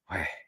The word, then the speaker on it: Yahweh: In fact, the word Yahweh is really a breathing. It's the intake of breath is Yah, and then the out breath is Weh. So it's Yahweh, Yahweh.